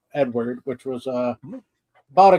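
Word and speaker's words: Eadweard: Uh it's a weird spelling, but it's pronounced Edward. It's E A D W E A R D Edward, which was a about a guy who did a lot of uh nude photography.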